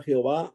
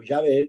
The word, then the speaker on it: Yahvé: Aquí en esta versión no usamos la palabra Jehová o Yahvé, que sería la mejor pronunciación, pero tomando en cuenta